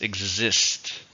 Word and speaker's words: exist: exist as a verb how many syllables exist two stresses on a second this product doesn't exist